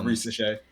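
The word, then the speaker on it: Risacher: You guys had your number 1 pick, Reese Shea, I believe is how you pronounce his last name. Yep, Reese Shea.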